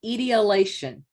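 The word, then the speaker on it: etiolation: it's e-t-e-o-l-a-t-i-o-n you totally Donna will you pronounce this word for me correctly please it's idiolation there you go so thank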